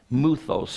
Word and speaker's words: mythos: and turn to fables muthos is the greek word it's spelled mythos and it's where we get our English word myths remember Daniel shared this